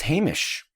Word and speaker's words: Hamish: Hamish link later we do not agree it's Hamish oh yes it's just I'm trying to respect